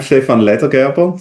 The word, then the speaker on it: Stefan Ledergerber: I'm Stefan Ledergerber, so that's the proper pronouncing.